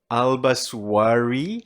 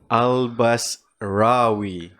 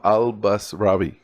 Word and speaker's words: Albasrawy: bit of a doozy and most people they pronounce it albaswari okay however it's supposed to go albas rawi okay so al-basravi that's correct thanks for coming here man thanks